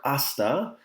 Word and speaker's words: hasta: careful with this word asta the h in spanish is silent that's why we don't